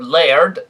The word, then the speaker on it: laird: Yes, they, or laird, as they were pronounced in Scotland.